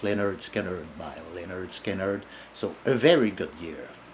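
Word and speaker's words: Lynyrd Skynyrd: Michael Field, Billion Dollar Babies by Alice Cooper, pronounced Leonard Skinner by Leonard Skinner.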